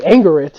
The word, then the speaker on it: Angerit: And Angerit is apparently how machine translation reads her name, so from now on she shall be known as Angerit instead of Isaac.